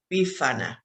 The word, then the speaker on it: Befana: about it so this which is called befania bifanya of course if you are italian you may pronounce it a little different bifana bifana in italy on